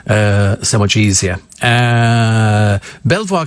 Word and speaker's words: Belvoir: so much easier uh Belvoir Castle is pronounced Beaver oh not in my